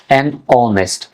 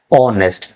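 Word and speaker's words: honest: এখানে দেখেন horrors H উচ্চারণ হইছে এইচ এর উচ্চারণটা বুঝা গেছে এখানে এ বসছে নিচেরটা খেয়াল করুন অনেস্ট অনেস্ট এ কিন্তু বুঝা যায় নাই বুঝা গেছে ও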